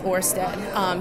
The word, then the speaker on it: Ørsted: so we decided to change our name to Ørsted. I'm not Danish, but that's the best pronunciation I have. However, it can also be known as just Ørsted here in the U.S.